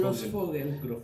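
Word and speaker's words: Grosfoguel: ¿Cómo se pronuncia? Grossfogel.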